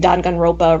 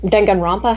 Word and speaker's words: Danganronpa: But I've never watched or played anything Danganronpa related. Danganronpa? How the hell do you pronounce it?